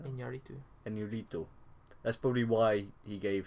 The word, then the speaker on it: Iñárritu: Which is, I mean, that actually might be why Iñárritu, how we pronounce his name now? Iñárritu.